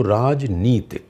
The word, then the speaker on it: राजनीति: गलत बोला मैं नी दीर्घ है दीर्घ है ती रस्व यानी कि छोटी है तो राजनीति आप शादीशुदा होंगे जी